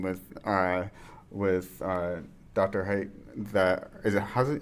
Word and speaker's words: Haidt: Height that is it how's it how you pronounce his last name? It's height. Height. Uh that it is the phone is not spiritually healthy.